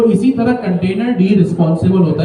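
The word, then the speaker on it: containerd: इसको हम कहेंगे कंटेनर डी। इसकी प्रोनाउंसिएशन क्या है? कंटेनर डी।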